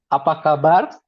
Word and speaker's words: apa kabar: Apa kabar? How do you spell that? Apa kabar?